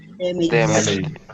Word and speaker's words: damaged: The pronunciation? Damaged.